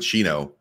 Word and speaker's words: Shino: So Shino or Shino is essentially, well, I pronounce it Shino. It's a Japanese. It's a Japanese first name.